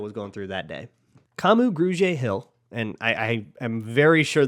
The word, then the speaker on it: Kamu Grugier-Hill: Kamu Grugier-Hill, and I am very sure that I'm pronouncing that right because his sister will get very mad at me if I don't.